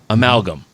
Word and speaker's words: amalgam: songs and added it to this latest release amalgam is that is that proper pronunciation yeah okay so you took fabricated hot